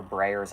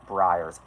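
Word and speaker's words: Breyers: horses I don't know of a brayer's ice cream are we really playing name the brand right now what it's pronounced Briar ah my apologies wouldn't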